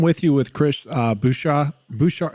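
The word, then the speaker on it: Bouyea: you with Chris uh bua bua how do you say it B bu like Bobby bu like in water boy it's like I just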